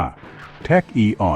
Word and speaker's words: tachyon: ที่ เร็ว กว่า แสง แท็ก ออก เสียง ว่า แทค อีออน เป็น อนุภาค สมุทธาน หมาย